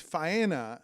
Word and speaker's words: Faena: How do you pronounce it? Fania? Faena? I always heard Faena. Well, he's saying Dania and it's Faena, and those are two very different places.